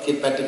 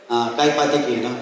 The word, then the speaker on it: Kaipatiki: Kirkpatrick or something. Lapita, whatever. Okay, whatever it is. I don't want to pronounce it wrongly. Kaipatiki, Kaipatiki.